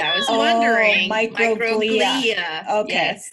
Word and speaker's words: microglia: I wondered if that's how you said it, microglia. I was wondering. Microglia. Okay. Yes. I put the emphasis on the wrong syllable.